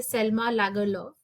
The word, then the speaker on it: Selma Lagerlöf: ये जो chapter है, this has been written by Selma Lagerlöf. So that's how we pronounce her name.